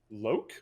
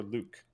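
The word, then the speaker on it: Louqe: Is that Loke or Luke? Oh yeah, the Loki, I think is how they pronounce it.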